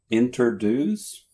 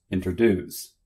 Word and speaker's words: introduce: Introduce? Introduce.